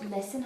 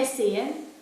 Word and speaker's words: Lissan: Really loud, all three of us It were said like, Lissan, but then that's not the way you pronounce it. Sure, it's not. It's Lissan.